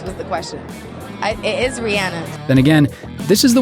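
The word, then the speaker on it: Rihanna: It is 'Ree-anna.'" Then again, this is the woman who thinks the word "umbrella" is pronounced like this … "Under my Umbrella-ella-ella-eh.”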